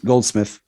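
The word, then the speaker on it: Goldsmith: score Jerry goldenthal is it golden i w pronounce it correct yeah golden Smith gold gold smith um his score is awesome I do really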